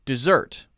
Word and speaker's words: dessert: a useful little trick and then when we pronounce it we say dessert but if the first one d d-e-s-e-r-t is